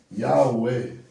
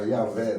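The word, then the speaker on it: Yahweh: para conseguir pronunciar Yahué. Aí algumas línguas vai ficar Yahvé, né?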